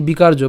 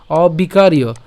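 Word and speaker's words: অবিকার্য: তাহলে সে অ এর সাথে আমরা এখানে বিকার, এই যে বিকার, আমরা বাংলা উচ্চারণ করলে উচ্চারণ হবে কি? বিকার্য, বাট আমরা সংস্কৃত উচ্চারণ যেহেতু করছি তাহলে বিকারীয়, ঠিক আছে? অবিকারীয়।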